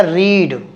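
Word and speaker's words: read: भी सेम है रीड रेड रीड ठीक है रीड रेड रेड तो इसकी स्पेलिंग सेम है उच्चारण अलग है रीड रेड रेड ठीक है उच्चारण रेड है इसका रीड हैव यू नॉट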